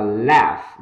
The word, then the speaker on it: laugh: Âm F bằng cuối âm G và âm H ở đây, nó cho âm G và âm H, để cho âm F, nhé, âm F đó, nó đọc là laugh, đó âm sơ A